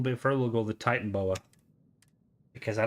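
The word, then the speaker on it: Titanoboa: I spell it Titan oh it's titanboa oh well there's there's me and aric saying it always saying it the wrong way I just called it Titan Boa I will say I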